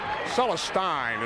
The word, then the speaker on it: Celestine: touch at that 40-34 Celestine is the way he prefers that name to be pronounced by the way Forge